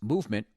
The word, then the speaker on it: MVMT: MVMT, pronounced movement, grew into one of the fastest-growing watch brands, shipping to over 160 countries across the globe.